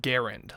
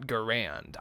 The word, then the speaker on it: Garand: To clarify my point, the name of the weapon is pronounced Garand, like errand, not Garand.